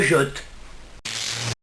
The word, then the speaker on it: jette: Jeter a une base formée à l'aide d'un E muet. La première syllabe de la base se prononçant je. Assemblé, le T de la base et le E de la désinence ferait te. Et la forme verbale se prononçant je jette.